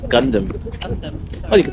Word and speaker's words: Gundam: that's how you say it isn't it it's Gundam Gundam oh you can say gundam say whatever